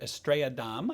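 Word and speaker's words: Estrella Damm: the spanish draft beer estrella dom i guess is the correct pronunciation we had to look it up want to make sure we're correct i've had this i've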